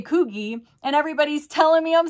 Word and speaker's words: Coogi: was saying it wrong and said it was Coogi and I'm like there's no way it's kogey so I looked it up on like Google